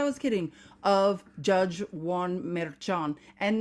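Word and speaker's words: Merchán: kidding of Judge Juan meran and now you guys can all hear how to pronounce merchan correctly from an actual SP speaker remember this man's from Puerto Rico and speak Spanish judge Juan meran was born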